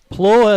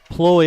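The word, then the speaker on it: Pleau: name p-l-e-a-u and uh bill and I were discussing prior to the start of the game how we want to pronounce that and uh Bill talked about uh you know the French sound of a name like that would be oh so we went with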